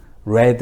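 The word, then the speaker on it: read: 따도 레이드 구요 읽었다 악어도 철자는 똑같은데 발음만 다릅니다 발음은 레드 라고 발음을 해요 빨간색 의회들은 똑같습니다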